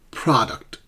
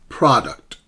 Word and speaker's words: product: Product. Product. So the first syllable, is stressed.